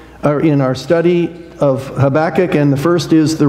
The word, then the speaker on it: Habakkuk: hard to pronounce but when you say the title of this book think of your back habac that that's how you pronounce it habac so that's the pronunciation